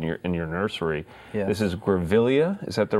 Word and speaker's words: Grevillea: This is Grevillea. Is that the right way to say that? Grevillea.